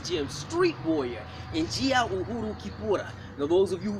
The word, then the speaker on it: Kipura: African fighting system that was mispronounced as Capoeira in the year 1712 by Rafael Bluto. Rafael was trying to say Kipura, but he spoke Portuguese, and the Capoeira is as close as you can get.